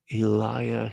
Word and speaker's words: Elijah: the Eliah who is actually the original pronunciation of of Elijah how the hell do